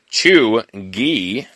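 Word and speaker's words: chuegy: the new york times chugi pronounced chew gee could be used broadly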